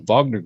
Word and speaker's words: Wagner: you saw in the Vagner group or Wagner group I would to pronounce it depending where you're coming from in the world which are the mercenaries